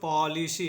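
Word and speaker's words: policy: देखिए, सी के बाद अगर वाई आता है, सी के बाद अगर वाई आएगा, ई आएगा या फिर आई आएगा, तब सी का जो उच्चारण करेंगे वो स करेंगे, सी का उच्चारण हम लोग स करेंगे। ठीक है, और वाई का उच्चारण होगा बड़ी ई तो हो जाएगा पॉलिसी, इसको पढ़ेंगे हम लोग पॉलिसी।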